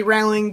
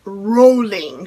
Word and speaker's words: Rowling: time with jk rowling i used to say it rowling i know lots of people say rallying but i watched a documentary video was sort of like her about her life movie thing i don't know it was on netflix it was actually kind of interesting and she says rolling she actually corrects one